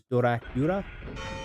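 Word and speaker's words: ドラキュラ: a play off of the way that you would say Dracula in Japanese, which is Dorakura. That's how you say it. So we say Dracula, it would be said Dorakura in Japanese, so Dracula.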